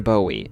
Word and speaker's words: Bowie: for Texas, where I mistakenly pronounced Bowie like David Bowie instead of the correct Jim Bowie, as in the knife wielding legend.